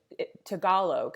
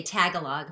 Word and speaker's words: Tagalog: wanted a song in tagalog am i saying that right deborah lee tagalog yeah oh gee yeah a lot of americans say tagalog but together see i want to say it right and my husband said